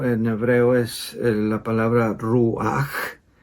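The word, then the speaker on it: רוח: en el idioma inglés la H suena como la J en español la correcta transliteración de la palabra del término deberí ser con j ruaj porque se menciona así se pronuncia así mientras que en griego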